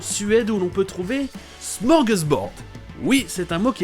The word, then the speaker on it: smorgasbord: Et des fois, c'est prononcé smorgasbord, comme dans cet extrait.